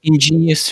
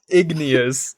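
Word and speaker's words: igneous: Ingenious rock. Yeah, it's called that. Ignous. It's pronounced ignous.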